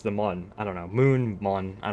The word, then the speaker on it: Mun: This is kind of a lunar, but pronounced with a different U. Yeah, well, in Kerbal Space Program, it's the Mun, M-U-N. Compared to Moon.